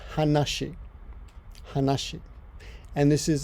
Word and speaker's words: 話: one kanji and in this case is conscience pronounced hanashi hush it and this is this just means